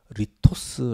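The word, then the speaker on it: λίθος: 되게 하라 여러분 이 돌은 요 어 헬라어로 리 토스 라고 합니다 그런데 이도 어디 돌 말고 떡은 헬라어로 a 토스 라고 합니다 발음이 비슷하죠 돌은 l 스 떡은 a 토스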